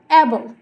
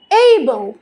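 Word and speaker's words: able: তারপর বলতাম অ্যাবল, এখন থেকে আমরা বলবো এইবল, এইবল।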